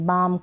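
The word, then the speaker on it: balm: है could should बाम बालम नहीं पढ़ेंगे बाम कालम नहीं पढ़ेंगे इसको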